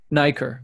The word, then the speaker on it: Nicor: the last name correctly do I say it nacre I don't know if I can let me see oh yeah it's pronounced as Nicor okay great so Theodore